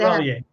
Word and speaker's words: Chevalier: How do you pronounce it again? G seven. Chevalier.